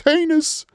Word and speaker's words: heinous: It's not heinous or strategic. It's heinous. If you can say hinds, you can say heinous.